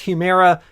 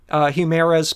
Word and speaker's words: Humira: Also, the Humira, or I guess Humira, is how you say it, patent is going